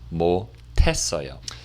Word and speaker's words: 못했어요: But when pronounced, 못했어요.